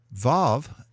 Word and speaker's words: Vav: Vav is pronounced as V in van in modern Hebrew, but in classical Hebrew